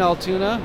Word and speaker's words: Altoona: Yeah, it's my first day in Altoona. I think I'm pronouncing that right.